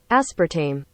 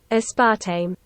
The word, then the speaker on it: aspartame: you even pronounce it if you're in the US it's said aspartam and the rest of the world a spart tame I'm going with a